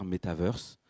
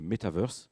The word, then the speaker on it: métavers: allez m'entendre dire metaver Metaverse euh il y a plusieurs prononciations metaver c'est en français c'est comme univers un méta univers et Metaverse avec l'accent américain anglo-saxon c'est comme un MTA Universe donc je vais alterner